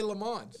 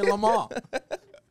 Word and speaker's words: Le Mans: Americans say Le Mans. Europeans say Le Mans.